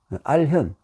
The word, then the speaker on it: 알현: 이럴 때 현이라고 불렀습니다 우리나라에서는 이상하게도 견은 그냥 보통 이렇게 보는 것이고 혀는 낮은 사람이 위를 사람 높은 사람은 말할 때는 현이라고 알현 그래서 중국에서는 우리말로 고치는 알견이 견이라고 발음이에요 그래가지고 하는데 우리는 현이라고 일부러 그렇게 좀 우리나라 고유한 방식으로 할 수 있죠 그래서 중국에서 잃는다면 이것은